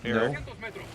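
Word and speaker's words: Erik: Eric. Eric is how I pronounce it.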